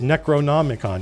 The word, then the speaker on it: Necronomicon: neck Pono neck what how do you pronounce necko n the neonomicon oh I bet that's an R I bet that's an r that where the leg didn't print so it's Necronomicon yeah yeah yeah that's an